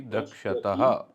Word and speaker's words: द्रक्ष्यति: दृश्यति, दृश्यता, दृश्यन्ति, द्रक्ष्यति, द्रक्ष्यतः, दृश्यता, दृश्यन्ति, दृश्यसि, दृश्यतः, दृश्यता, द्रक्ष्य द्रक्ष्य। हाँ बोलिए। दृश्यामि, दृश्यावः, दृश्यावः। तो इसमें क्या है, थोड़ा सा उच्चारण में हमें इसमें सुधार करना होगा। द्रक्ष्य, ये है द्रक्ष्यति, द्रक्ष्यतः, द्रक्ष्यन्ति, द्रक्ष्यसि, द्रक्ष्यथः,